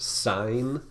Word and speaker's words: sine: as s I and it looks like sin a but it's actually pronounced sine of a okay to find the